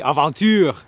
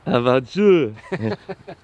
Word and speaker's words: Aventure: Is it LP? Aventure. Aventure. Adventure in French.